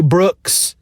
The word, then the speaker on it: Brooks: the Shannara books by Terry Brooks, which rhymes with books.